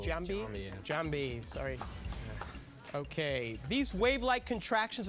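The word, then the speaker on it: Giambi: be um Derek Jeter no it was Jason gambi jamb Jambi sorry okay these wavelike contractions of the digestive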